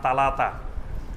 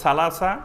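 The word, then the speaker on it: ثلاثة: অঞ্চলের ভাষা আছে তো অনেক অঞ্চলে সা অক্ষর থেকে তারা তা উচ্চারণ করে অর্থাৎ এসনান বলবে না বলবে এতন সালাসা বলবে না বলবে তালাতা সামানিয়া আট হলো সামানিয়া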